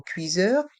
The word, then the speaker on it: cuiseur: Cuiseur. Et le S est entre le I et le E, donc se prononce ZE.